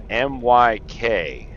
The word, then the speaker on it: MYK: to me so it's called uh myk which stands for the mic that's how they call it myk that's how they say